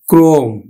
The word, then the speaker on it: ক্রম: যেমন আমি লিখলাম ক্রম, উচ্চারণ করব কিন্তু আমরা এদের আদ্য অয়ের সাথে রফলাযুক্ত অ, তাহলে ওকার হয়ে যাবে। তাহলে আমরা উচ্চারণ করব কিন্তু ক্রম, উচ্চারণ করব ক্রম।